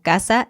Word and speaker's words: casa: obviamente significan cosas distintas, pero las pronunciamos igual, como casa y casa.